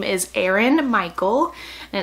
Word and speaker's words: Eren: His name is Aaron Michael and it's spelled E-R-E-N, which I think is super cute.